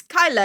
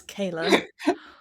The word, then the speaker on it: Kayla: entire world he went oh it's it's Kyla isn't it and I went no Kyla It's Kayla and he went yes